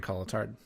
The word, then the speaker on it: Cotillard: Marion Cotillard. Yeah, she was awesome. I think it's Marion Cotillard. Cotillard. That's how you say it.